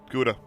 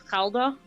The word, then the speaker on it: Gouda: Gouda. Can I? Yeah, please. Gouda. It's Gouda. Gouda. Gouda. That's how we pronounce it in Gouda.